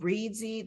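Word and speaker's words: Reedsy: there are different um sites one is called readsy that I highly recommend it's spelled r-e-e-d-s-y and it has vetted professionals from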